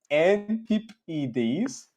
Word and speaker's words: antipodes: It is pronounced Antipodes, opposite side of the sphere, Oz, New Zealand.